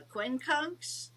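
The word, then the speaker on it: quincunx: that you brought in how do I what spell it oh spell which one the Quin conks yes exactly Q Q UI n c u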